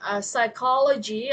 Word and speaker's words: psychology: This is the same way when you guys pronounce as biology, okay. At school we learn biology, right? So biology, okay, no biologi, okay. Biologi is in bahasa, okay. So in English is logy, okay. Psychology, sociology, okay.